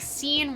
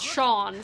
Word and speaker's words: Sean: You always thought the only people who pronounced it scene were small children who never learned better. Exactly. Because, like, I know somebody whose name is Sean, spelled S-E-A-N, which is, like, a very traditional Irish way.